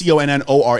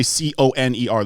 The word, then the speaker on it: Connor: So it's CONNOR. It's not ER. People, I will literally spell that shit for people, and they will still say like they'll say CONER. They'll be Conor.